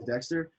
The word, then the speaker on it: D3XTR: His name was Dexter. So my brand really like started off spelled D3XTR. And over the past year, I shortened it to D3XTR, but it's still pronounced Dexter.